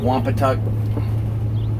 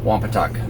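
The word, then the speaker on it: Wompatuck: effective use that's 172 all registered here at wampa touch State Park and just so that you guys know I asked the Ranger and it is actually pronounced wampa tuck so I don't want to hear any crap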